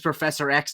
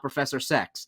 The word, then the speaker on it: Professor X: person on the Pod to say his name is Professor X not Professor sex which feels like a